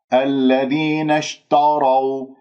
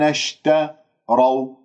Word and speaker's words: اشتروا: لأنهم بتأثير، بل بعض يقرأها التاء مفخمة بتأثير الراء المفخمة لأنها مفتوحة، يقولون الذين اشتروا، هذا خطأ. إذن قسم الكلمة، فكك الكلمة، الذين اشتروا، لاحظتم؟